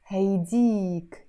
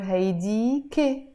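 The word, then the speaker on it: هيديك: But if we want to say that in the feminine form, is haydik, haydik, pronounced haydik or haydike.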